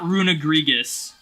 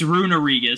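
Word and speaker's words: Runerigus: And then they went and removed one of the G's for Runarigus. So it's like, it's not Runagrigus. It's Runarigus.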